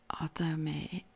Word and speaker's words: athame: purpose and accuracy but an athame pronounced Adame is a ritual blade